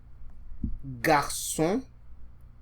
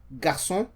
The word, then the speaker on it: garçon: So if you see in French garçon, garçon, boy, right? Garçon, boy, because G is followed by an A, and so we pronounce as G.